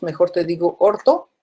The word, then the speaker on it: orto: 2, mejor te digo orto. Y digo orto, pero escribo o escribo 2 o escribo O, pero se pronuncia orto.